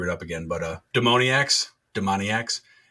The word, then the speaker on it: Demoniacs: it I was like it's like maniacs but demon demoniacs okay now that you